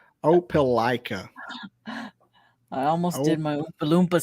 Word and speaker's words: Opelika: means you're normal but they're from they're from Opa-locka Alabama where Auburn is Auburn University what did you say Opa-locka I'll pronounce it like I'll pronounce Opelika I almost did my balloomba sound on you